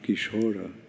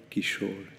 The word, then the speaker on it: Kishore: a bengali song and in bengali often the a at the end is not pronounced like not Maura but more kishora not kishora Kishore like you know Hindi